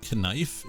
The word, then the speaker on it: knife: Did you know that the K in knife is silent?